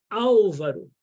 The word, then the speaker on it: Álvaro: tônica na antepenúltima sílaba então meu nome Álvaro é proparoxítona no português todas as